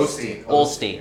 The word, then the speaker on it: Osteen: Osteen.